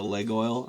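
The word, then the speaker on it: Laguiole: the second part it's a leg oil that's how you say it but uh the second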